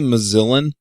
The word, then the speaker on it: Mozillan: Wait, did you just say Mozillan? Yeah. It rhymes with villain.